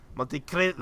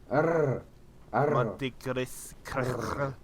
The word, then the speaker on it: Monte Cristo: You gotta roll that R. Monte Cristo. I can't roll R. I literally cannot roll R's. Monte Cristo. No, you say it. Say Monte Cristo, rolling your R. Monte Cristo.